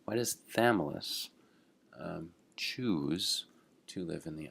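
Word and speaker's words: Chthamalus: a this is a crazy word but it's pronounced thamulus why does thameless choose to live in the upper intertidal zone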